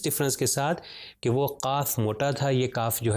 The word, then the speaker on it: قاف: طرح کیا جاتا ہے۔ تو یہ قاف جو 2 نقطے والا ہے یہ تھوڑا موٹا پڑھا جاتا ہے، تو اس لیے میں